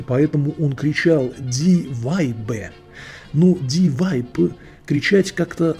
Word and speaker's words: Weib: Итак, лысая голова в левом углу кричала со остервенением, что слово «вайб», по-немецки это «баба», нужно произносить как «вайбе».